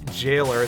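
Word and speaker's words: gaol: slipped his sally the jailer that is pronounced jail even though it's spelled like gowl it's a very it's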